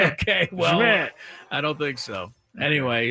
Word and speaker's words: Szmyt: Schmidt. Okay, well, Schmidt.